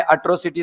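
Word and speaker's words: atrocity: इसका उच्चारण है एट्रोसिटी। क्या है? एट्रोसिटी नहीं एट्रोसिटी। एट्रोसिटी का मतलब होता है अत्याचार।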